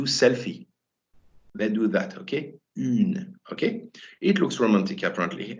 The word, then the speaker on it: une: For example, in French, we've got the U sound, which is always quite tricky to pronounce for beginners, okay, as in the word une, okay?